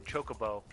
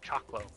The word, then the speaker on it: Chocobo: Though, of course, this is coming from the guy whose family didn't notice that there was an extra O in Chocobo, so for years we pronounced it Choclo.